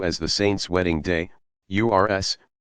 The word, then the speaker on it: Urs: The occasions are sometimes referred to as the saint's wedding day, URS, pronounced OORS.